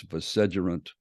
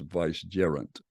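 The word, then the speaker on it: vicegerent: Regent uh or vice gerant and I've been pronouncing this vedant uh but uh a dear friend said well if you look it up online it's supposed to be pronounced Vice jerant uh so I still like the way viant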